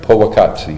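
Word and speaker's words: Powaqqatsi: I'm going to put a little bit of Poa Qatsi in, and am I pronouncing that right? Poa Qatsi.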